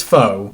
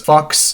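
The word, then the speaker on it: Faux: bit and this is foe yes that is how it's pronounced I know it looks like it would be pronounced as Fox but trust me it's pronounced as foe but Trice interestingly enough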